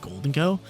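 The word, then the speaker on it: Gholdengo: Do you guys call it Golden Go like me, or do you guys call it Goldengo?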